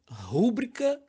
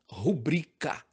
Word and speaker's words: rubrica: No segundo caso, a pronúncia correta é recorde e não recorde. E, por incrível que pareça, rúbrica não existe. O certo é rubrica.